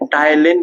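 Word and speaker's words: ptyalin: टाइलिन भी बोलते हैं। पी टी वाई ए P silent बेटा यहां पर पी टी वाई ए एल आई यानी टाइलेन भी बोला जाता है।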